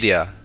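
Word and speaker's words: Lleida: and I've also been corrected on how I'm pronouncing some of these like Roya instead of Roa and LL where was it yida like um if you guys have ever been to Southern California there's Yano and yarmo which are both LL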